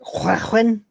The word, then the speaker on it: Llewellyn: Actually, it's pronounced Llewellyn, if you want to pronounce it properly. What? Sounds like Klingon, Welsh.